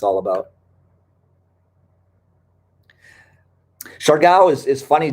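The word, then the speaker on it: Siargao: natural beauty and that's what it's all about char gao is is funny j yeah it's pronounced shar gao though s-h-a-r but there's a little well it's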